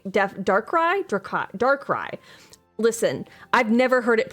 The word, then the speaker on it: Darkrai: Dracarai? Ooh. That's a cool Pokemon to remember correct. I have a vague idea in my head. Darkrai? Oh, I'm definitely saying Darkrai? Darkrai.